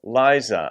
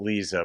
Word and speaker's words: Lyza: it's Bob Wayne's song Liza I think you'd say it lies and not Lisa but there are different pronunciations but I'm going with Liza I went to school